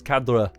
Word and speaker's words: cadre: Now too many people pronounce this cadre like it was an Italian word but it is not of Italian origin but rather a French origin.